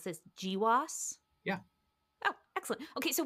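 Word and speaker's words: GWAS: Well, so one of the things your lab specializes in is genomewide association studies or do we do we pronounce this GIWAS?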